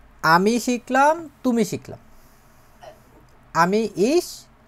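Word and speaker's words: ich: এটা হচ্ছে এইভাবে করে লেখে এটার উচ্চারণ হয় হচ্ছে ইশ কি বলে ইশ ইশ মানে কি আমি আমি ইশ মানে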